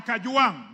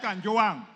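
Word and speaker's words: Kajwang': I am Kajuang, not Kanjuang.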